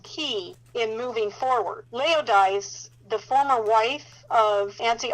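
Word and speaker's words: Laodice: Now, Leodise rhymes with paradise. But I got to tell you that Leodise has nothing to do with paradise.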